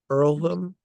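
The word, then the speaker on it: Earlham: Earlm. Earlm, Madison County, Iowa. Earlm is spelled E A R L H A M.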